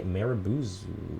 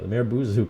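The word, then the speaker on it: marubozu: have a wick and that is the marabous i totally mispronounced the merbuzu candle um that's this guy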